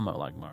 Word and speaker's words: Molag Mar: The Molag Mar, apparently that's how you say it.